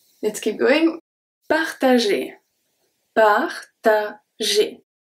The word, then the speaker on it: partager: Partager. Partager. So the G here turns into a soft G because it's followed by ER and it's going to make the sound E.